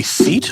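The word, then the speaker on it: cete: a badges is a a seat I'm probably saying that wrong you're saying it right seat a seat okay but spell it out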